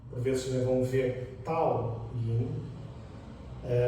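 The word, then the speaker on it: Dao Yin: vão ver Tao Yin, deve-se escrever com um D, mas na língua chinesa muitas vezes o D é assim mais carregado, mais forte. Então temos um Tao, Tao, Tao, por vezes parece um T, mas é um D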